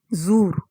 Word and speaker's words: زور: کردار ادا کرتی ہے۔ زور، یہاں پہ اس کا ہم تلفظ کر دیں اور توڑ کے بتائیں الفاظ کے زے پیش، زو، واو اور را کے اوپر زبر۔ زور، زورا کے معنی